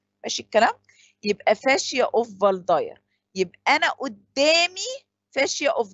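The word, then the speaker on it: Waldeyer: يبقى فاشيا اوف فالداير، يبقى انا قدامي فاشيا اوف دينونفير، ورايا فاشيا اوف فالداير، فالدايرز فاشيا طبعا عشان هو ايه الماني، فالدبليو دي بتتنطق في ماشي الكلام.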